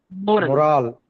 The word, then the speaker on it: moral: When you say, and when you want to read M-O-R-A-L, you say moral. So more, that's the first syllable. That is stressed.